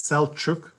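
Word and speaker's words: Selçuk: you thank you john for pronouncing my name correctly it's celchuk for those who cares so you know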